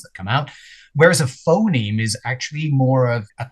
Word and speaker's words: phoneme: It's like phone me, but you stick the two words together, it becomes phoneme. Yeah, rhymes with meme.